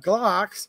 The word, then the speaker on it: Glock: Says Gen 5 clocks are kind of, Gen 5 Glocks. See, I said clock. You can't even pronounce the name of it.